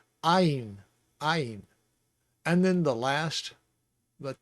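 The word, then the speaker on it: עין: The ayin uses the back of your throat, and maybe a little part of your tongue touches the roof of your mouth to get the N sound pronounced properly, but ayin.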